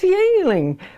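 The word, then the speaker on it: Yuengling: Not the Chinese beer that's pronounced Yingling, but... Yeah, this is Y-E-U-N-G-L-I-N-G. Yeah, Y-U-E-N-G, Yingling, L-I-N-G. And I used to laugh because people here didn't know how to pronounce it. I said, that's Yingling.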